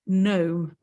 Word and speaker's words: gnome: It's not gnome or gnu, all right? It's gnome. The G is silent.